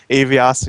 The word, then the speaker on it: Avius: The proper way to pronounce this Avius, but I just like to Avias, while we're looking at my.